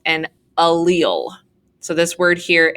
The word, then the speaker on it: allele: different versions of a gene is called an allele so this word here a-l-l-e-l-e is pronounced allele we typically in eighth grade science